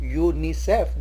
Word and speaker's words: UNICEF: A UNICEF employee, as we said earlier, when U is pronounced as YOOU, UNICEF, then we use A in the beginning.